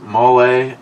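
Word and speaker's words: mole: but maybe maybe she's Rich Huff m is pronounced mle it is a wonderful Mexican gravy with mexican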